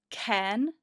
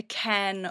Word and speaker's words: Cairn: Okay, so it's pronounced Cairn, as in like a cairn of rocks.